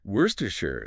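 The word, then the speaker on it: Worcestershire: Worstershure.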